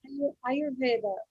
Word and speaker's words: Ayurveda: Would you pronounce it for me? You do better, Alex. Ayurveda.